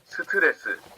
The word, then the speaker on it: 스트레스: In Korean, it's 4 syllables. 스트레스. They're all voiced.